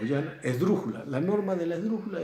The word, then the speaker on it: esdrújula: Sin pestañear, ustedes ya saben que todas las esdrújulas llevan acento. Ojo, la palabra esdrújula es esdrújula.